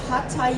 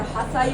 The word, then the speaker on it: Hatha: What we often hear in the West is Hatha Yoga, or Hatha Yoga as it's pronounced here.